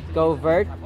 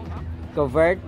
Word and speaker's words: covert: sabong which God hates our vocabulary term has three valid pronunciations covert covert covert covert covered All right so the stressing and some of the pronunciations in the first syllable may vary naku papaya at